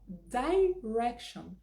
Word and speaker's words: Direction: é aquele caminho tá na Inglaterra é pronunciado como Direction o i vira i então o grupo é pronunciado como One Direction e não tá errado é questão de pronúncia